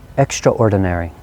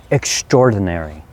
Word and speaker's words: extraordinary: extraordinary by the way i often hear this word pronounced two different ways the first one i'm not sure maybe it's british british english extraordinary that's extraordinary or more commonly to my ear extraordinary i think it's a